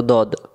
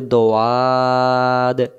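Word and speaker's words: ضاد: আর যদি এটাকে আমরা বলি দোয়াদ, তখন উচ্চারণ ভুল হয়ে যাবে, তাহলে এটাকে আমরা কি বলবো, দদ, মাখরাজ।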